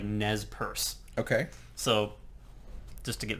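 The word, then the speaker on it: Nez Perce: was n but apparently the tribe themselves when they use that term pronounce it as like Nez purse okay so just to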